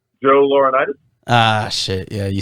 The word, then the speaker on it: Laurinaitis: Joe Laurinaitis.